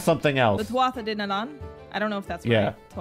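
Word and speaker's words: Tuatha Dé Danann: I just called them the Danon, like the yogurt thing, because the last words looked like it. Yeah, was supposed to be pronounced Danon. Some of them got mix-ins. Yeah. They're yogurt gods. Anyway, Breed, who is first among the Fae for now. Tuatha Dé Nanann. There you go. There it is.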